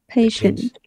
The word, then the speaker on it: patient: patient. Kiên nhẫn hả? Pay mà làm sao có pay, pain đâu ra? Patient. Patient. Đấy, chuẩn hóa lại phát âm.